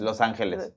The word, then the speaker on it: Los Angeles: No, but in Spanish it's Los Angeles. In English will be, the angels. It means Los Angeles, actually.